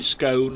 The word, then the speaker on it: scone: Um, cherry raisin or plain scone and it rhymes with stone.